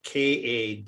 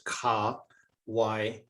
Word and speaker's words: Kawainui: So if you break it down into the syllables that they are, then you can actually say it. So example, my name, Kawainui. So it's Kawainui. Kawainui.